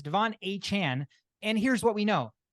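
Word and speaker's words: Achane: of a sudden he want his name is pronounced Devon a Chan it's not changing Japan it's a Chan so it's kind of a letdown sounds like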